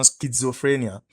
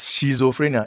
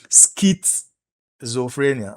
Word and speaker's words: schizophrenia: Now, so the monoamines are implicated in depression, schizophrenia. This is not pronounced as schizophrenia. It is pronounced as schizophrenia, all right? Then we have, there's a T before you pronounce the Z.